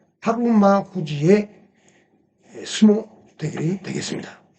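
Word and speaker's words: 日馬富士: 그리고 그것은 하루마 후지 이렇게 읽는데 이게 하루는 일이 한국어의 하루, 일일을 말합니다.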